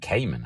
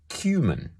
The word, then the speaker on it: cumin: to how it's spelled why would you pronounce it Cayman I mean I've never heard that in my life they meant it was cumin Q they were spelling